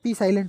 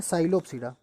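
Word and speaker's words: Psilopsida: देखो पहले रख दिया पी साइलेंट होता है बेटा यहाँ पर, तो कहते हैं साइलोप्सिडा। पसाइलो नहीं बोलते, पसाइलो नहीं बोला जाता, एस के पहले अगर पी है तो वो साइलेंट होता है, तो बोलते हैं इसको साइलोप्सिडा। तो इसमें साइलोटम अपने सिलेबस में है, साइलोप्सिडा साइलोटम।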